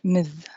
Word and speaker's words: Ms: or miss but ms i better give my ruling that this is pronounced ms calhoun i'm delighted that